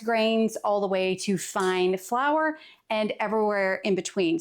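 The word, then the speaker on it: fein: And fine is actually fine even though it's spelled F E I N.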